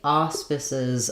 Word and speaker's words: auspices: So it has the letters AU say ah in this word. And then even though this looks like the word spice, where the E would say make the I say its name, it's an I sound in this word. So I would write it as auspice, and then letter C says the S sound in this word, and the letters E, S say the I and Z sounds.